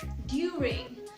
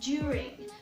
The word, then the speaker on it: during: This word a lot of people would pronounce as during, which will not sound very natural because native speakers would say during. So just imagine that instead of D, you have the letter J, right?